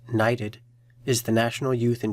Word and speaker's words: NYTD: NYTD, pronounced NYTD, is the National Youth in Transition Database.